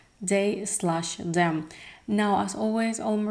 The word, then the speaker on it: They/Them: I used to pronounce it just as They Them, but now I actually found out that it's They Slash Them.